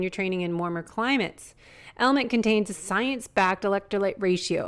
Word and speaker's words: LMNT: our sponsors lmnt element it's spelled lmnt but pronounced element if you haven't heard